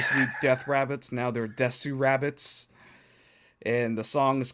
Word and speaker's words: DESU. RABBITS: how they wrote it the pronunciation is the same because it's set in a Japanese Way which is des Wow looks like they